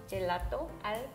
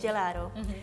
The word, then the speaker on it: gelato: one more time but with the english pronunciation okay don't make me go back there yeah gelato okay gelato why do you say do instead of two i think it just sounds more natural in english for lack of a